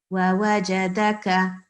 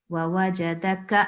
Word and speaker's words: وَوَجَدَكَ: But this one is the one with the thin sound. Okay, so no need to pronounce it with a qalqala sound. وَوَجَدَكَ, like that. Just a normal k sound that you would say. وَوَجَدَكَ, and keep it short.